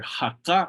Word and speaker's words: haka: Again, remember, haka ubuni. Notice here the difference in pronunciation. Haka ubuni with that K sound.